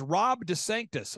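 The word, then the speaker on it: DeSantis: of he's head of Rhonda sanctimonies I'm sorry I mispronounced it's Rob Des Sanctus Rob Des Sanctus he's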